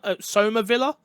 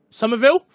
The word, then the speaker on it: Somerville: finally uh august 13th we got some soma villa if i said that right i feel like i said that wrong somerville thank you sorry i pronounced that wrong uh some of y'all